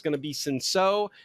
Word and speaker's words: Cinsault: For Dallas, it's going to be SO. By the way, that is spelled C I N S A U L T. Soul. Soul. Um, but it's French, so um, and